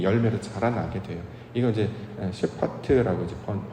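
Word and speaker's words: שפט: 이거 이제 셰파트라고 이제 발음을 하는데, 그 의도가 뭐냐면 결국 그 열매가 잘 맺었는지 안 맺었는지를 확인하는 걸 심판이라고 한단 말이죠.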